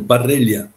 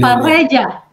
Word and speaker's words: Parrella: ¿Cómo se pronuncia su apellido, apóstol? Es un apellido italiano, Parrella, P-A-R-L-L-A. Parrella.